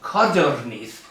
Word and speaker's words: codorniz: And there is no explanation for why the bird, the quail, is called codorniz in Spanish, with a stress accent on the first syllable.